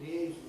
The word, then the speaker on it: liaison: then there's this term we borrow from the French the French but we of course pronounce it leazison or something like that leazison is joining up